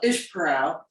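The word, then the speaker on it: Esparão: Yeah, well, Ishparau is spelled Esparao, but they call it Ishparau, is up in the Alateja.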